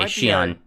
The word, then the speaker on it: Xi'an: How do I pronounce this again? Xi'an? Yeah, that's it. Yeah, okay, Xi'an.